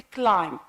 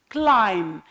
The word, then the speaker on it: climb: word which is a climb climb we can't pronounce p the third word is